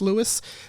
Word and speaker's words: Louis: both ways with with louis spelt with an s some people it's louis like louis armstrong some people it's louis uh hey brother happy